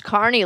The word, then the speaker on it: Kearny: No, it's Kearny, like Kearny. Carnival folk.